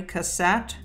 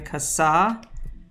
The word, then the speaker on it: Cassatt: is indeed mary cassatt mary kassa i'm gonna say cassatt because she is in fact an american artist and so i believe that's probably how you pronounce it but i don't honestly know i should probably look that up and it is indeed